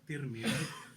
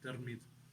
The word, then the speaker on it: Tirmidh: born in, which is Tirmidh. There's other ways of pronouncing this. Tirmidh as well. In Farsi they say Tirmidh. The Arabs they say Tirmidh, and it's in Turkmenistan and north of Iran.